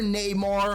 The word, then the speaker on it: Namor: is no other than Namor, or Neymar, however you want to pronounce it.